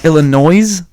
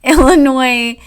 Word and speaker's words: Illinois: FYI, Illinois. You, even though it's spelled with an S, you don't pronounce it.